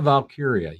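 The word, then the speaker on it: Valkyria: is that how you say her name Lyra valkiria yes had a hell of a match it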